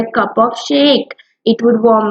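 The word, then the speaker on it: sake: Size pronounce like फा इन father and की शेकी ई के ई राइम्स विद वे, ठीक है।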